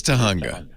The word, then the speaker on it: Tahunga: and you did wonderful it's not tahunga it is it is tahunga i don't know why